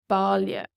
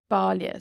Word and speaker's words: baile: So this AI in Ballia town is pronounced Ballia. Ballia. So this AI becomes like an O sound.